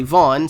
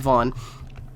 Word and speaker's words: Vin: And unfortunately, Vaughn, spelled Vin, which is how my name is spelled, but it said Vaughn, is always taken everywhere.